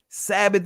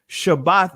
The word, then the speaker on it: shabbat: is a greek pronunciation sabbath is a greek pronunciation shabbat is the actual pronunciation so when you hear me say shabbat guess what when you hear others say shabbat with a thaa right that's letting us know that that's ain't that's hebrew that's ancient hebrew